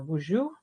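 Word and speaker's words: Boozhoo: Nin or Buju is how you say hello in my language.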